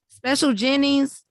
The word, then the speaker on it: Special Jennings: So, Special Jennings joined Mount Verde, right?